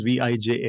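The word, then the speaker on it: Vijay: I is W now my name is v j a y so it's a VJ but i j is I in Dutch yeah so they get super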